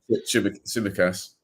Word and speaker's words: Tsimikas: Oh, it just drags a little bit to Simak or Simisak, or however you bloody pronounce the Greek lad's name. Tsimikas. Tsimikas, that's the one.